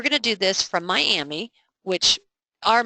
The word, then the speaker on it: Miami: to do this from Miami which are Miami so let's listen to this okay well we know we don't say Miami for Miami Texas it's miam so let's go in